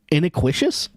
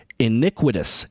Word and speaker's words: iniquitous: Pronunciation is ini iniquitous. Oh, I've heard this word before. I've just never seen it spelled.